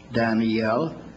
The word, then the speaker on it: Daniel: but you know that the Hebrew word daniel has three syllables danneel the English word at least to Daniel but moody pronounced was one tunnel oh come on now